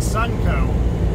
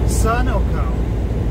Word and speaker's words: Sunoco: once again uh in my last video i pronounced it sunco which was a fuel company at the uh the rest stop when i was trying to get the that calzone was not pronounced sunco it is pronounced sunoco sun oil company so